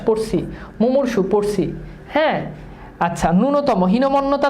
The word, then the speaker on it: ন্যূনতম: এটার উচ্চারণ ন্যূনতম না, এটার উচ্চারণ হচ্ছে ন্যূনতম, এবং মনে রাখবে এখানে দীর্ঘিকার হবে, ঠিক আছে।